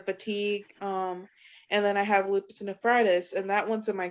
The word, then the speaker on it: lupus nephritis: And how do you pronounce that again? Lupus nephritis.